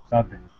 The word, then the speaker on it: sudden: Okay, sudden.